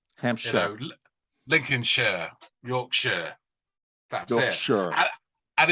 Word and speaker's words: Lincolnshire: Rings the shires but when you see something like Hampshire you pronounce it sure okay I'm sure Lincolnshire Yorkshire and it's the